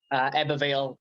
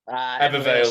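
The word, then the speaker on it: Ebbw Vale: Well, you can catch this fight on August 13th at the EBBW, or is that how you pronounce it? Ebervale. Ebervale, that's it.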